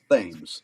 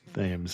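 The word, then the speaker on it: Thames: h m Cs and in Newport it's pronounced themes themes okay so I'm sure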